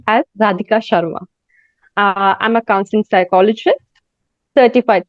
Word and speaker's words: Radhika Sharma: Because all of you, since you not be knowing my pronunciation of the name, it's pronounced as Radhika Sharma.